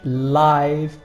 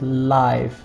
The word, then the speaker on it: live: Stay out late, watch live music. Notice the pronunciation of this is live, not live.